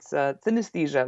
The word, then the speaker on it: synesthesia: there's actually an A in the middle of the word, so you mispronounce it like Yeah, synesthesia. But it's synesthesia, like anesthesia, but uh-huh.